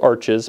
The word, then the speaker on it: Arches: It's spelled Arches, but apparently the French pronounce it Arche.